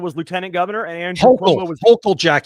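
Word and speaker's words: Hochul: Kathy Hatchel. Okay. and and Quobo Andrew Cuomo back when um Kathy Hutchel was lieutenant governor and Andrew Hokll Jack. You gotta say it like a New Yorker. Kathy Hokll Oh well it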